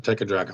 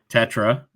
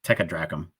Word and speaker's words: Tetradrachm: That's how you pronounce it, Tetradrachm. That's right. I keep getting it wrong. You're still saying it wrong. You leave me alone. Tetradrachm. Tetradrachm. Yeah, not Techadrachm.